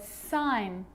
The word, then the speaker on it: sign: baked wrapped okay so a g can also be silent too think about the word sign champagne design or foreign